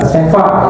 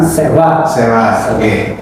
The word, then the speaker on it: seva: Kata sewa ataupun tulisnya itu sewa, Sanskrit, tapi dibacanya bukan sewa ya, tapi sewa. Mirip W, tetapi tidak persis W gitu ya.